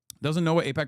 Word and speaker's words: AIPAC: To pretend that he doesn't know what AIPAC, pretending it could be pronounced IPAC is just insulting to anyone who follows this channel.